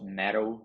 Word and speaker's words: mettle: Para testar, para provar sua mettle de sua mind, né? Sua mettle de sua mente. Então, mettle aqui é metal. Então, mesma pronúncia de metal, né? Metal de medalha.